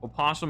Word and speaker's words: opossum: Opossum is the correct spelling. Okay. The O is silent.